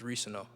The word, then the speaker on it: Reescano: It's Reescano.